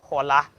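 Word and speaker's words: Xorla: revival choir youtube page just look for hola hola is spelled x o r l a you know just look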